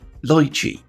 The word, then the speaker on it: Lychee: I've had a few folks quite correctly point out that I pronounce lychee in the same way as do the Belgian company that formed it, rather than the Western way, lychee.